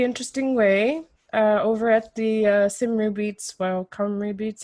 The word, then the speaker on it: Cymru: Well, basically, Don and I met in a really interesting way over at the Cymru Beats. Well, Cymru Beats. How do you say it? Cymru Beats. Yeah, Cymru Beats. The Welsh pronunciation.